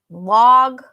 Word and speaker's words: log: It log, frog, law, all of them have the ah sound.